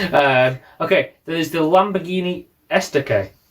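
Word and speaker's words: Estoque: was two lines uh okay there's the lamborghini esta k correct correct pronunciation as well um well this is the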